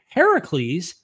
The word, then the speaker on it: Heracles: critical Scholars think that Heracles Heracles which is the Greek pronunciation which means the older version of Hercules um influen the biblical